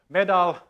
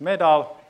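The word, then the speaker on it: MoEDAL: involved in this called medal it's spelled model but we decided that the O is silent so it's just metal and it's an experiment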